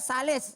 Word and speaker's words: Sales: Ustaz saya Sales. Iya. Tulisannya Iya, Iya. sales itu bacanya.